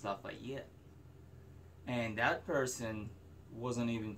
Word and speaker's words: Lafayette: time that you know why am i pronouncing the fate left should be pronounced lafayette and that person wasn't